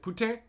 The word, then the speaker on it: poutine: a French lady and she called it ptin which is I mean probably how you're supposed to pronounce it but whatever everyone calls it poutin and yes it it